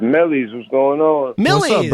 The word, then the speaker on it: Millyz: It's Millyz.